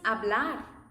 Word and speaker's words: hablar: And remember, even if the sound I'm gonna say is silent, they have an H.